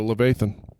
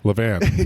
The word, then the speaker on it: Levan: All right, let's go to Levathan. Is that how you say it? Levan. Yeah, that. Levan. Naval backwards.